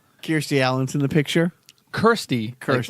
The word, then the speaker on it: Kirstie: Kirstie. Kirstie. Like, rhymes with thirsty, which I'm thirsty for.